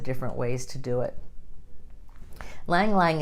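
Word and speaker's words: ylang-ylang: Lang Lang is another one, spelled Y-L-A-N-G, Y-L-A-N-G. Lang Lang's how you say it.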